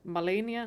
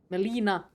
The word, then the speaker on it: Melina: Like Melania? No? Melania. Melina. Melina is her name.